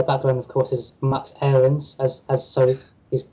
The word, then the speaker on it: Aarons: expect to call him max errands which is i think everybody um what everybody thought his name was until he was recently put on chase so it came out saying that he'd like to pronounce max aaron so the challenge is